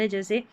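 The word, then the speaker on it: has: पढ़ेंगे जैसे जिप में इसके काफी सारे साउंड हैं जैसे हैज़ एच ए एस हैज़ यहां पर एस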